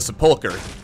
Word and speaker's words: Sepulchre: Apparently that's how you pronounce Sepulchre. I've been saying Sepulchre my entire life because I've never heard anyone say it out loud, but it's apparently pronounced Sepulchre. Hard K sound.